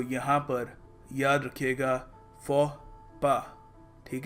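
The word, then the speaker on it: faux pas: हमको प्रोनाउंस करना चाहिए देखो इसको प्रोनाउंस करने का सही तरीका है फ पा जी हां पास या फॉक्स पास नहीं है जानता हूं आप में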